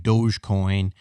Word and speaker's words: Dogecoin: At least, you know, that way I know I'm betting on something real as opposed to something like Dogecoin, or, you know, that's spelled like doggy coin.